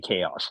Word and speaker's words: Kaos: So so what is, explain to the people that are watching, what is chaos, spelled with a K, chaos entertainment? Well, chaos came, chaos is my name. It's the first four letters of my name.